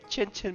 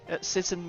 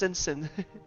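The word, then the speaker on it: Cicin: They look similar to that Fatui Chinchin mage. Sinsen mage, sorry. Yeah, it's pronounced Sinsen.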